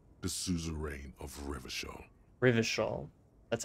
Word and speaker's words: Rivershaw: century's greatest superpowers the souza reign of rivershaw rivershawl that's how you pronounce it oh that's pretty bad mal administration